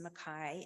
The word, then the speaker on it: Mackay: She appealed to the congregation for help with housing, and a tiny Scottish woman Nellie Mackay, which would be pronounced Mackay in Scotland, offered to host my father in her Toronto home when he wasn't boarding at school in the US.